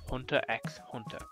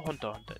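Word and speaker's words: Hunter × Hunter: Today's episode is about Hunter x Hunter, or Hunter Hunter, depending on how you want to pronounce it.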